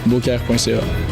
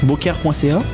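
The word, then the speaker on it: Beaucaire.ca: Boker.ca. Boker.ca. Exact. Comment ça s'écrit ?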